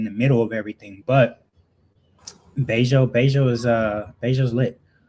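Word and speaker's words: Bello: And a lot it's a I think this area is slept on, but Bejo, man, some of the most beautiful women in Medí, they all live in Beij.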